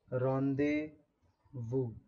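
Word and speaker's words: rendezvous: ये जो वर्ड है रेंडेजवोस, है ना, इसकी प्रोनाउंसिएशन है रॉन्डेवू।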